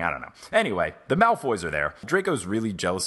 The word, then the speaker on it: Malfoy: they're also fun fact I've been pronouncing Malfoy in mouth way the whole time I thought that's what it was I don't know why and then I was like wait it's spelled Malfoy yeah I thought it